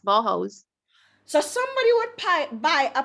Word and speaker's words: Bauhaus: So yes, somebody would buy a piece of, how do you pronounce it then? Is it Boghouse or Bauhaus. Bauhaus? Yes, Bauhaus.